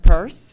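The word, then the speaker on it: Peirce: That is K-A-Y, and it is pronounced Purse.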